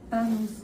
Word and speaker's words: Tanus: ¿Cómo se pronuncia? Tanus. Tanus. Ah, pues no lleva acento, ¿verdad? No Tanus. lleva acento.